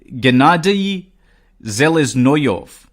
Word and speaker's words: Gennady Seleznyov: sarin and also to let me repeat that sorry Russian names are not the easiest to pronounce it has to be said so gennady seleznyov and he also served